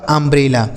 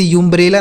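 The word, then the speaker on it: umbrella: यह लिखा आपका अंब्रेला। यानी यू का उच्चारण क्या हो गया? अंब्रेला। इसे यू अंब्रेला नहीं पढ़ेंगे। कुछ नहीं। इसे आपको अंब्रेला पढ़ना है।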